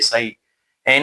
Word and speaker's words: sin: इसको सिनी बोलेंगे। ये गलती मत करना। इसको ये साइड जो इसका एब्रविएशन फॉर्म है वो क्या होगा यहां पे? si n होता है। इसको sin ही प्रोनाउंस करना है।